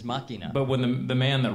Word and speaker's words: Machina: day going, "No, it's machina, machines of grace." Well, that is how it's pronounced in the Latin pronunciation is machina. But when the man that wrote it can call it machina.